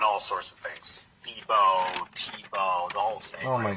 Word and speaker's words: Thébaud: So, but the official correct pronunciation is officially what? Tibo. Tibo. Okay. I guess in English it would just be Table or or like Yeah.